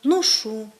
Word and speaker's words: ношу: кажу і інші слова в літературній мові маємо наголошувати такі дієслова на останньому складі кажу ношу прошу та інші Ми маємо